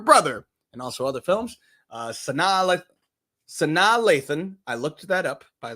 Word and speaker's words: Sanaa Lathan: Sanaa Lathan, I looked that up, by the way. That is how you pronounce her name.